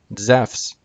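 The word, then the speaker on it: Ζεύς: in english characters but the greek word e soos and the name zeus in greek zeff's completely different this is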